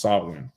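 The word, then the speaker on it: Samhain: both right because that's the sawin portion of it how you say it in Gaelic right that's what it says right the Gaelic word pronounced swin right that's what um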